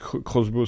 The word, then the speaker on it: X-Bow: Oui, pardon, Crossbow, ça se prononce.